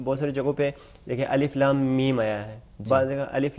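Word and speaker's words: الم: کا جو تلفظ ہے، ان کا تلفظ وہی حروف تہجی کی طرح ہے، جس طریقے سے عرض کیا ہے کہ مثلا با تا سا، اسی طریقے سے الف لام میم، یہاں پہ دیکھیں الف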